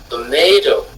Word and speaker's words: tomato: syllabe elle se trouve, vous direz tomato. Tomato, tomato. OK. Tomato meaning tomate. Vous voyez qu'on fait, on monte avant de redescendre.